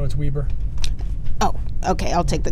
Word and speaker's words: Weber: I just want to make sure you know it's Weber State, not Weber. Okay, I'll say Weber. Yeah, it's phonetically spelled that way.